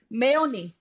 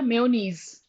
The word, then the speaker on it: mayonnaise: mind sandwich sandwich so mayoni can be used or mayonnaise there are both the pronunciations working mayoni as well as mayonnaise so mayonnaise sandwich okay